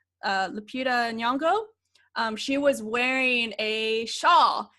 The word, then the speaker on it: Lupita Nyong'o: the movie, Nakia, played by, how do you pronounce her name? I want to say, make sure I say it right, Lupita Nyong'o.